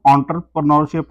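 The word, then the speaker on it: entrepreneurship: तो ये इसका जो है प्रोनाउंसिएशन एंटरप्रेन्योरशिप होता है। ENTRE के हिसाब से आप इंटर से नहीं इसको पढ़ सकते, बोल सकते।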